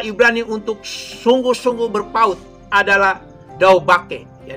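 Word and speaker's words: דבק: Saudara-saudaraku, kata Ibrani untuk sungguh-sungguh berpaut adalah daubake. Ya, dalam bahasa Indonesia ditulisnya dabek, tapi dalam pelafalannya adalah daubake.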